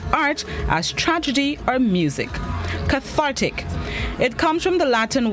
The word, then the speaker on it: cathartic: day this morning's word of the day is cathartic cathartic it's spelled c-a-t-h-a-r-t-i-c cathartic it's an additive which means